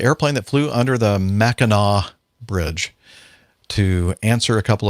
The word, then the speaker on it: Mackinac: the strong winds of the mackinac straits it's pronounced mackinaw never mackanac the rule of thumb is mackinaw is the